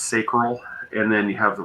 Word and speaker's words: sacral: solar plexus you know the sacred I think it's pronounced sacral and then you have